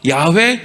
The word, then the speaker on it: 야훼: 여호와, 야훼, 이게 이제 발음이 비슷한 똑같은 단어인데 여호와로 읽느냐 야훼라고 읽느냐 요 차이예요.